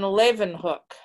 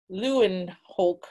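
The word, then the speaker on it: Leeuwenhoek: it's about anthony van levenhook and um it tells you how to pronounce his name in the book because it looks like lew and hulk or something but they tell you it's levenhook so what an interesting man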